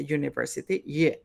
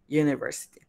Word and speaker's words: university: Pero el sonido el primer sonido de esta palabra es el de una semivocal, que es el de y. Por eso university, se pronuncia university, university.